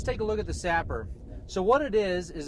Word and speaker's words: SAPR: of our new products, the Sapper. It's spelled SAP PR, stock attachment precision rifle. All right, let's take a look at the Sapper.